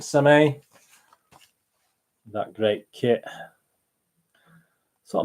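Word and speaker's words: Sommeil: this is wonderful David some a is how you pronounce it some a that great kit so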